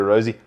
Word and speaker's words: Arozzi: of me is there a rosie okay that's actually how you say it with a bit of a italian flair you got to do